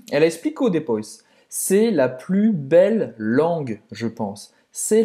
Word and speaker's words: plus: U, c'est la plus belle langue. Você não vai pronunciar esse S no final. C'est la plus belle langue.